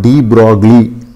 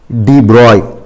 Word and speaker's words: de Broglie: அது நம்ம பொதுவாக டி ப்ராக்லி அப்படின்ட்டு சொல்கிறோம். ஆக்சுவலாக ஃப்ரெஞ்சு நேம் அது டி ப்ராய் அப்படின்னு அதை உச்சரிக்கணும். இந்த ஜிஎல்இ சேர்ந்து ஒய் ப்ரொனன்சியேஷன் டி ப்ராய், ரைட்.